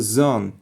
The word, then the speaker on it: Sonne: Here like here come the zone is very similar to English. Here come the sun. But in German pronunciation would be here come the sun.